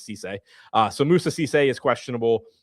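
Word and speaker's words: Cissé: It is not Sissy, it is Cisse.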